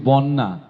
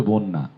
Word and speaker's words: বন্যা: আমরা গতদিন ক্লাসে শিখেছি আরেকটু গুরুত্বপূর্ণ উচ্চারণ আমরা ভুল করি এটি বন্যা বলি অনেকে কখনোই বন্যা না জফ ন এর সাথে যেহেতু জ ফালা আছে জ ফালা থাকা মাত্রই আগের বর্ণটি অর্থাৎ বকারন্ত হয়ে যায় যে কারণে উচ্চারণ হবে বন্যা হ্যা বন্যা প্লাবিত হয়ে